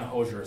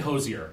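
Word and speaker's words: Hozier: ever uh heard one hoser song it's apparently Hosier I looked up interviews of him but it's like three syllables so it's I I'll try to say Hosier he's from Ireland you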